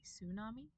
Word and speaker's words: tsunami: Uh we don't have it at the beginning of words um unless they are loan words like tsunami. However, I think most just drop the T sound and say tsunami.